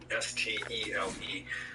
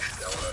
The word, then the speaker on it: stele: But then, in the late 90s, thanks be to God, they found a stele, a monument inscription, S-T-E-L-E, pronounced different ways. Some people say Stella, some people say stele, anyway.